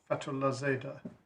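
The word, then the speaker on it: Fatolahzadeh: The case is almost unpronouncable but is fatala f a t o l a h z a d e h against the London bar of blet.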